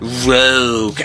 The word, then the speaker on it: ROG: And then ROG is not with a U or E. It's not rogue, okay? It's an acronym for Republic of Gamers.